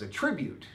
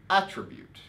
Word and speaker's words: attribute: we have well actually there are two ways to pronounce this because as a verb it's a tribute as a noun it's attribute that's one of the tricky things about english right having that stress it's attribute as a noun and